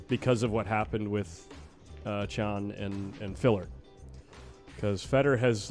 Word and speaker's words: Can: Chun.